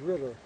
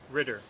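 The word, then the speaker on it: ridder: It's pronounced Ritter. Ritter. Ritter. Yeah, Knight in Dutch is Ritter.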